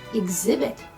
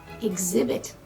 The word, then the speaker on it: exhibit: copper conductivity conductivity exhibit many of my students make a mistake when they pronounce this word exhibit exhibit knowledge again one word